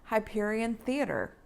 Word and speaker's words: Hyperion Theater: Anyway, Mile 2 is right behind Hyperion Theater. Did I say it right? Mm-hmm. Hyperion Theater, home of the esteemed Rogers the Musical.